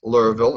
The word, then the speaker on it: Louisville: small Catholic school in Louisville Kentucky as pronounced Louisville excuse me you don't pronounce any of the letters besides the Ellenville Louisville Laurel oh